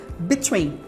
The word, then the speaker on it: between: né E tem depois aqueles dois lá pronúncia vai ser de I Então falando bem rápid na verdade falando de uma maneira natural não é rápido manea maneira natural mesmo between between Ok sempre tem esse som de i apesar de escrever com l o som é de I between e sempre vai